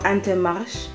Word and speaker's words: Intermarché: up at my local inter marche or antemash i think that's how it's pronounced correctly actually and these are a